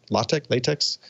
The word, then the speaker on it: LaTeX: set that's available for latex. It's spelled latex, but I've heard it pronounced LaTeX. In any case, I haven't